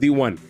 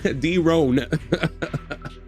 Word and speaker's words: Daron: I'm the only person that has a name that is spelled as Daron, but it is pronounced D1, which is amazing. I'm so hyped. He said D-Ron.